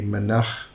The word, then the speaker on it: Menach: I kind of go with a bit of a more Hebrew pronunciation. So it would be Menach, because it's a CH at the end, but you can say Menach.